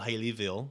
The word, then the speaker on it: Haleyville: If you're from there, it's Haleyville. Haleyville. Yeah, but Okay. it's spelled Haleyville.